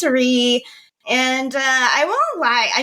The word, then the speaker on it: Rie: I get a lot of Ries and Rays, but it's Ree.